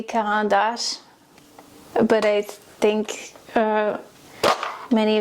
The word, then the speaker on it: Caran d'Ache: I know in French it would be Caran d'Ache, but I think uh many of you wouldn't understand me if I said that.